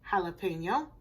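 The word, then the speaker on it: jalapeño: make ja good but in these two it's not pronounced with the jet sound it's jalapeno and jicama J is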